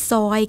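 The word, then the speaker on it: soil: ใส่ ดิน เนี่ย ดิน ภาษา อังกฤษ เรียก ว่า soy ค่ะ ไม่ ใช่ soy milk ไม่ ใช่ ซอย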